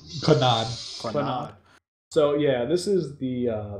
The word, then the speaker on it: Clannad: So, so this is how do you pronounce this? It's Clanad. Konami. Clannad.